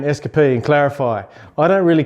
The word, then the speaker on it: Eskapee: Or the way that I sort of say it, I hang on the S, so Eskapee. And also change the K a little bit.